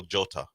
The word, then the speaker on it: Jota: J is pronounced not for him. It's Diego Jota.